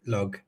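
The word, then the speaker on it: Lugh: Yeah, I pronounce it Lou, but I know that some people would pronounce it Lug.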